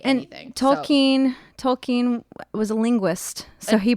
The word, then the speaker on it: Tolkien: You said Tolkien. What the fuck is wrong with you? It's Tolkien. It's like an I. J.R.R. Tolkien. J.R.R. Tolkien is how you say.